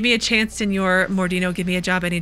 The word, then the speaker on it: Mordino: will go there now Senor modino mordino I keep saying his name wrong what's in the package